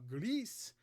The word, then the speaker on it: Gris: Now, Greece, or Gris, or Grice, I don't care. I'm going to call it Greece. Greece. I'll say it like that with an accent.